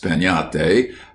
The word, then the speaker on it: piñata: But everywhere children would be talking about breaking a piñata, pronounced piñata, as you talk of having a tree.